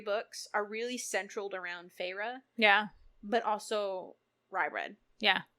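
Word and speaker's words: Feyre: I was gonna say Fair because Alexa pronounces it Fair. It's okay, Farah. but it's Farah.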